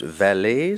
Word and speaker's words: valet: Valet, am I pronouncing the word correctly? Yes, it can be pronounced valet. Some people pronounce it valet.